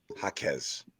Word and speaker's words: Jaquez: How to pronounce Jaquez. I knew we didn't have it. Jaquez.